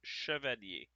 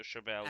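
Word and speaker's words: Chevalier: Or rather, if you want the proper proper pronunciation, it's chevier. But English people being English people, the accent transforms at the Shabalia.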